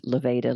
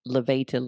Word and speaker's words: levator: always remember I'm sure the teacher that thought it was levator like Darth Vader so levator like elevator l-e-v-a-t-o-r levatus Gap